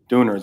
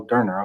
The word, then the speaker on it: Döner: There's a place called Döner, well, we call them Dooners or Doners down there, Yeah. because we don't know how to pronounce them properly. Like I did in the Yeah. first half of this, I had to listen to you say it, and I was like, oh, Döner, okay, got it.